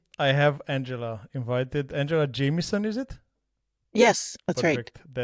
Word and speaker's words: Jamieson: Angela Jamieson, is it? Yes, that's Perfect. right. That's the right pronunciation.